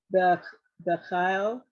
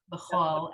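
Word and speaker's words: בכל: Bechal, Bechol, actually. Bechol, Even though it's you could say but they pronounce it more O.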